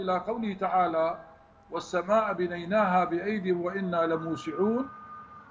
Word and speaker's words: بأيد: كذلك مثلا جاءوا إلى قوله تعالى والسماء بنيناها بأيدي وإنا لموسعون، رسمت بياء عين وتنطق بياء واحدة بأيد.